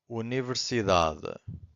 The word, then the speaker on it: universidade: So in this case, it's this one here, da.